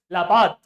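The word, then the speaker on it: La Paz: actually two Capital laad which is written as lapas and pronounced as laad and one is SU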